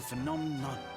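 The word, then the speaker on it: Phnom Nonh: Welcome to Phenomenon. No. Okay, that's how it's said.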